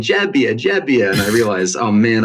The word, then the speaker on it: Gebbia: Mezzoiuso, and everyone's saying Gebbia, and I realized, oh man, I've been saying it wrong this whole time. So yes, you got the pronunciation just right. So GE is Gebbia, is J for Italian.